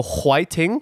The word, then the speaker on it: 화이팅: it again fighting yeah it's when Korean people can't pronounce fighting because they have a hard time pronouncing certain letters in English so it's like they can't do it so they go Hua Ting yeah that's the closest